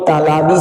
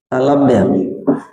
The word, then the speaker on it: तालव्य: कभी कभी हम लोग बच्चे गलती से बोलते हैं इसको तालाबी स, मूर्धानी स, दांती स, ये नहीं बोलना है, आपको शुद्ध उच्चारण करना है। तालु से तालव्य बनता है, तालव्य, इसको तालव्य से बोलना है, तालाबी से नहीं बोलना है।